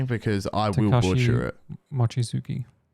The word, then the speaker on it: Mochizuki: According to Takesha, do you want to pronounce that for me, because I will butcher it? Mochizuki. Mizuki?